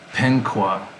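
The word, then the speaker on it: *penkʷe: in the comments um it's pronounced something like penkwa so in in in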